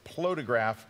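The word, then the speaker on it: Plotagraph: I've been mispronouncing it always. It's Plotograph.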